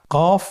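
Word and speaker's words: ق: কফ উচ্চারণের ক্ষেত্রে একটু মোটা করে উচ্চারণ করতে হবে। আপনারা আমার সাথে আবার বলুন কফ। আরেকবার চেষ্টা করুন। কফ। কফ উচ্চারণের ক্ষেত্রে অবশ্যই তিন আলিফ টেনে পড়তে হবে।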